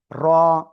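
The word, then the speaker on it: ر: র। তো এই অক্ষর কোন জায়গা থেকে উচ্চারিত হয়? জিহ্বার আগা পিঠ তার বরাবর উপরে তালুর সাথে লাগিয়ে মোটা আওয়াজে এক আলিফটা নিয়ে উচ্চারণ করতে হবে।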